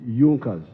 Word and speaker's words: Junkers: It is written Junkers, but they pronounced pronounce it Junkers.